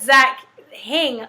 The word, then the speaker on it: Zach Hing: Or you can just type in Zach Hing. H-I-N-G rhymes with king, right? Yeah. King. That's another guy. No, but Zach Hing with an H rhymes with king.